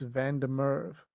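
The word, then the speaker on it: Van der Merwe: not that difficult Anton but my surname is Van Der Merv like um it's got a Dutch origin so my father's side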